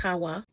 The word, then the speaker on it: Hawa: Okay, so her name is written H, A, W, A. That is Xawa in our ever modern Latin alphabet. And it is pronounced Hawa, Hawa. All right.